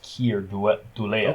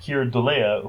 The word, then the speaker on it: Keir Dullea: Well, his name is the character's name is Peter, but the actor's name is Keir Dullea. Okay, so I Oh, was right Here, then. that's how you say it. Okay. Keir Dullea, who you may know from a movie we